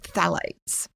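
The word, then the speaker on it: phthalates: And then we have phalates. Phalates is spelled P H T H A L A T E S. So it's a phalate.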